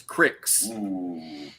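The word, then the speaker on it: Cryx: And then the other one that I have an army for is cricks. And I always remember the name Cricks because it rhymes with dirty tricks.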